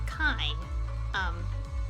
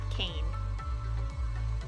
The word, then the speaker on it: Kaine: is pronounced as, like, similar to the word fine. So, but with a K, so it's pronounced as kine, not Kane.